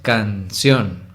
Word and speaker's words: canción: Canción es una palabra que se separa en 2 sílabas, canción. Y saben que la segunda, es decir, la última, ción, es la más fuerte, ¿no? No es canción, es canción.